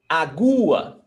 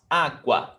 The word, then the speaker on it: água: We don't say agua, agua. We don't pronounce like that. We pronounce água.